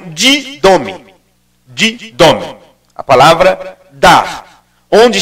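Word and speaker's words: δίδωμι: É uma palavra grega que nós poderíamos pronunciar como didome.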